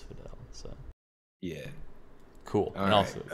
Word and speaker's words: Fidel: If he wants to change the spelling of Fiddle, then that's fine. But as long as it's spelled Fidel, I'm saying it as Fidel.